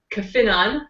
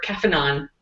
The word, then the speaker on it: Caphenon: There are 2 ways to pronounce it, depending on where you're from. So you can either say Caphenon, which would be the European method, or Caphenon, which would be the American method. And it's perfectly okay to do it either way.